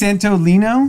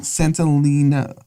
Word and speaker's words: Santolina: I thought it was Santo Domingo, I think it's One of the two. Santolina. but I think it's Santolino. Santolina. Lina. Oh, there's an A.